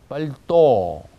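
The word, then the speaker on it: пальто: 그 다음에 외투 이렇게 얘기할 때도 강세가 뒤에 있습니다. 뻘또 이렇게 되어 있고요. 오는 분명히 나는데 앞에 있는 빠는 아인지 온지 분명히 구별이 안 되는 상태로 발음해도 문제가 없다는 뜻입니다.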